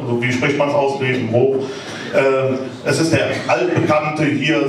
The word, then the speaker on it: Grevenbroich: Wie spricht man es aus? Grevenbroich.